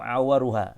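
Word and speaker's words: عورها: Ya, al-bayinu auruha, atau al-aura'u al-bayinu awaruha. Ya, ini bacanya awaruha.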